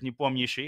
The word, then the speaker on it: Nepomniachtchi: pronounce for non-Russian speakers, Nepomniachtchi. Of course, I say it in a more Americanized way so that people are